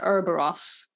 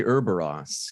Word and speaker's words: Ouroboros: I don't want to pronounce things wrongly, but Yennefer says it Ouroboros. Yeah, they say Ouroboros because it's something.